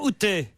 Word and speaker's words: Outé: Bonjour Outé. Bonjour. Je prononce bien. Ah, parfait. Outé, Parfait.